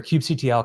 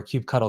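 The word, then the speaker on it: kubectl: you're trying to learn your Cube CTL commands or cube cuddle commands however you want to pronounce it and uh you can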